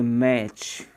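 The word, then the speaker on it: match: TCH एक साथ आने पर अपना टी साइलेंट हो जाता है। कैसे देखिए, TCH कभी भी एक साथ मिलता है तो उसमें अपना टी साइलेंट माना जाता है। यहाँ पर देखिए इसको अपन मैच नहीं बोलेंगे, मैच। ओके, यहाँ पर अपना टी साइलेंट है क्योंकि इसके बाद में तुरंत क्या आएगा CH।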